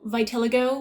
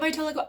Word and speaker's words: vitiligo: acne scars would be nice um you know vitiligo would be nice is it vitiligo i i'm gonna call it vitiligo i've heard it vitiligo but that just sounds fake to me that